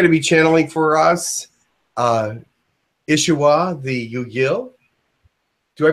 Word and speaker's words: Ishuwa: And he's going to be channeling for us Ishuwa, the Yahyel. Do I pronounce that correctly? Ishuwa, you can say Ishuwa.